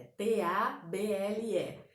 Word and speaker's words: table: O A aí tem som de E, então você coloca entre barras, tei, né? Esse B-L-E tem som de bow, né? Esse B-L-E a gente pronuncia bow, então você pode colocar T-E-I-B-O-U, table, que é como você acredita que está sendo pronunciado, tá?